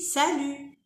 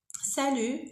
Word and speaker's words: salut: Salut, quand vous voyez, il y a un T à la fin, mais on ne dit pas salut. On dit salut. Salut, c'est faux. On ne prononce pas le T.